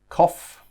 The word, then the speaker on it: cough: of the tree okay so now we look at the pronunciation and that is just like the word off off the table off the train off so we've got cough which is a noun